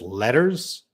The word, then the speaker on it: letters: Can you pronounce letters versus lettuce? They sound the same to you. Letters, letters. So in American English, you can definitely gonna hear that R letter.